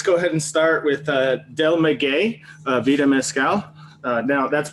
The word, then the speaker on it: Del Maguey: But let's go ahead and start with Del Maguey Vida Mezcal. Now that's pronounced Del Maguey.